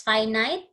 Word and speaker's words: finite: finite and infinite sets that's finite again you pronounce it as finite the other one is infinite now have you heard